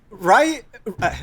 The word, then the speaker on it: Ryu: Ryu, it like stood out to me because it's Ryu.